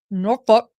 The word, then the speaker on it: Norfolk: 6 of 2022 defendant was indicted by Norfolk Norfolk That's what they that's how they say it